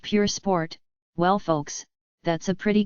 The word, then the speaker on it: Pur Sport: sport against the new chiron per sport pronounced pure sport well folks that's a